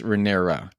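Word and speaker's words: Rhaenyra: before you dare so we have been saying her name wrong this entire time there is rhaenerys and there's renera renera is the princess the heir to the throne raenerys was the King's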